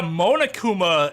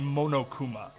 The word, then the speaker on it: Monokuma: a dog says yeah monakuma is a weird way to say it because if you're gonna pronounce it like how it would be pronounced in japanese it would be monokuma but not monokuma but